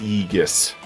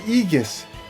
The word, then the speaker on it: Gigas: Whoa by the way that's pronounced eus it's a igus yeah they pronounce the first G like a y Yus I don't know why but that's how they pronounce it in voice acting in in white Knights one and two so to keep consistency